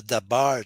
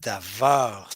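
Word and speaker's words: דָּבָר: So it's the reason why it's not the Dabar translation, but Davar translation for the same reason.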